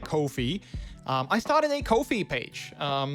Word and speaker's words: Ko-fi: I think you say it like Ko-fi.